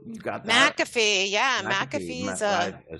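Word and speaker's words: McAfee: project that we worked on there with them maffy too you got that mcafe yeah mcafe I said it wrong yeah no no worries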